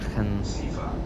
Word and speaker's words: Aachen: it's Eilendorf, then it's Aachen-Roverode, and then it's Aachen, or is it Aachen, something like that. There's a way to say it correctly. It's like Aachen, or something like that, Aachen, something like that, that's the way you actually say it.